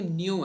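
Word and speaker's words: nu: कैसे ऐसे प्रोनाउंस ऐसे करते हैं, न्यू, ठीक है।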